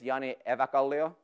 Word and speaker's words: Jani Eväkallio: My name is Jani Eväkallio, and that's how you say it again.